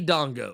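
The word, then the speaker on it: Django: Also, call me Dongo." Hey, there you go. That that So, here this is what I can say. The J is silent hillbilly. I appreciate that, Dango.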